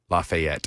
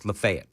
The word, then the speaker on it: Lafayette: No, just I'm just reminding our news per it's not Lafayette around here. No, it's not Lafayette. It's Lefayet.